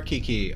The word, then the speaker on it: Kiki: your name being Kiki I'm going to pronounce that key as a long vowel you are Kiki okay even if we